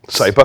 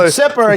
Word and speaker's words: Sypa: And then, I'm going to say it wrong again. Sypa. Sypa. I almost said Sipper again.